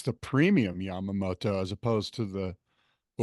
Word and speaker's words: Yamamoto: wetsuits out of help me, how do you pronounce the rubber, the Japanese rubber? Yamamoto? Yeah, Yamamoto.